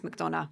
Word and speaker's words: MacDonagh: My work name is MacDonagh, which is also a complete mouthful that no one can ever spell, but you pronounced it absolutely correctly.